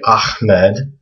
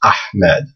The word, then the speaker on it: Ahmed: it's not a so when you hear people say Ahmed they're actually pronouncing it wrong it's actually this letter that they're that they want to try to pronounce it's ahed so this again is